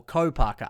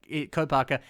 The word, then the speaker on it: Kopaka: so i think that or co parker i always do that i always do that i always say it wrong it's just how i grew up saying it i apologize still this